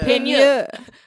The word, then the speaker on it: Peigneur: Oh, it's called Lake Peigneur. Wait, spell it? Peigneur. Well, it's a French word, so Peigneur.